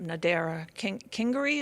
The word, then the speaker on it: Nadera Kingery: Now, speaking of teachers, what I'd like to do now is I'm going to bring up Nadera Kingery. Is pronounced correctly? Yes.